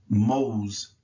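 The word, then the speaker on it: mowz: in the weapon is spelled m-o-w-z and it's pronounced mo's mose um so that's that old u excuse me o w sound so let's go to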